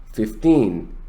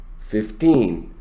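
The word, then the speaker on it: fifteen: when the number is based on teens you stress the second syllable 15 15.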